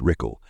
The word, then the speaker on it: Ruchel: The last occupant of the house was a man named Lee Ruchel, pronounced Rickle, and his family, which consisted of his wife and daughter.